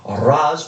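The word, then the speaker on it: Ra's: to be determined between Ras or rage depending on your preferred pronunciation al Ghul and hella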